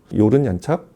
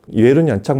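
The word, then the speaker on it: Jörn Janczak: 이 독일인이 만든 스피커, 요른 얀착, 예른 얀착 이렇게 발음하는데, 이분처럼 이렇게 철두철미한 분은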